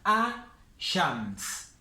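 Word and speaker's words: الشمس: Y con las solares la L del artículo no se pronuncia. Se escribe, siempre se escribe, pero no se pronuncia. Entonces acá tenemos a-shams.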